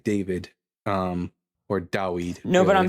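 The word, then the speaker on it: דָּוִד: In Hebrew it's David. It's a long double E sound, David. And then it's just turned to a short I, David, or Dawid.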